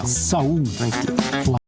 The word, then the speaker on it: Saúl: Reforço Saul. Tá certa a minha a pronúncia? Não tem segredo aí, né? Saul.